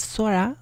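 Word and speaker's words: 空: Next up we got sky, which is pronounced sora.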